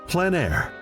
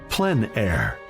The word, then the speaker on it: plein air: Called plein air, the French coined the term, which means open air or outdoors. The French pronounce it plein air.